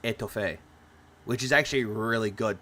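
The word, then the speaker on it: étouffée: It's pronounced etouffee, which is actually really good too.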